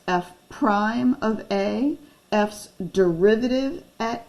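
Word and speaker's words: f′(a): It's pronounced f prime of a, f's derivative at a, f's rate of change at a.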